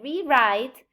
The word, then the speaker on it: rewrite: we all know but we say rewrite it means to write again so in that case re would take a secondary stress only when it means do something again okay um and there's